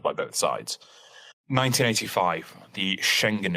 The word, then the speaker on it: Schengen: both sides 1985 the Schengen Agreement am i pronouncing that correctly yes okay sounds very German I wish Mark were